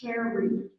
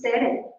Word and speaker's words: Tere: She says, "My name is Tere," and she says, "That's Terry, Terry." And she says, "No, it's Tere." She says, "No, it's pronounced. No, it's pronounced Tere."